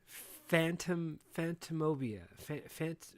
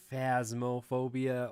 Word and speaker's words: Phasmophobia: It's, I was watching you play this, and I'm like, what's the difference in between this and the Phantomobia? Phantasmobia. How do you pronounce it? Phasmophobia.